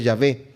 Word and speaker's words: Yahvé: conmovido jamás digo yavé porque en algunas de sus Biblias dicen Jehová en realidad se cree que la traducción más correcta la pronunciación más correcta puede ser yahvé porque lleva las letras en orden de y o y H V corta H no importa